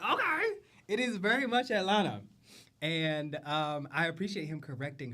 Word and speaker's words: Atlanta: It is very much Atlanta. And I appreciate him correcting her because, bitch, we do not pronounce that T. There's no hard T in Atlanta.